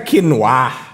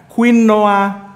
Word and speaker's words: quinoa: Hoi Noah rinoa duitnow bacanya kinwah kilwa tapi tulisannya Queen Noah Quick Queen duitku Dhuhur